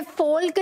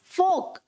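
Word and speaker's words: folk: ये फोल्क नहीं है, इट इज फोक, सुना भी होगा, फोक डांस, फोक।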